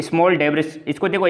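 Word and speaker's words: debris: ये जो रिंग होती है, बेल्ट होती है, इसको ये स्मॉल डेब्रिस, इसको देखो, एक इसका प्रॉपर प्रोनाउंसिएशन है डेब्री, ठीक है।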